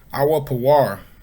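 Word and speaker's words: אוֹפִיר: Which looks like our Pawar. Our Pawar is how you say Ophir in the Hebrew.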